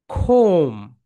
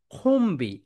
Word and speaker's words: comb: ওয়ার্ডের শেষ লেটার যদি এমবি হয় তাহলে বি এর উচ্চারণ হয় না, বি থাকে সাইলেন্ট। সাম এক্সাম্পল, খোম। এখানে আমরা বলবো না খম্বি।